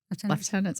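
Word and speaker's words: lieutenant: We're deputy left tenants. I always say it wrong. I know. I always say American. I should know better.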